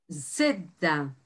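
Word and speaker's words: ζήτα: Y este sonido es para las palabras que llevan Z y se escriben con C de casa.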